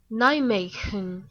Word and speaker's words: Nijmegen: I have the way to pronounce that. Here we go. Hold on, is it going to work here? Yeah. Nijmegen, Netherlands.